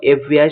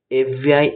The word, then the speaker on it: FBI: এখানে দেখো FBI শব্দের উচ্চারণ বা করলে দেখা যায় বা প্রোনাউন্সিয়েশন করলে দেখা যায় EF দিয়ে শুরু হচ্ছে, যা একটি ভাওয়েল সাউন্ড দিচ্ছে। তাই FBI এর আগে আর্টিকেল অ্যান বসবে।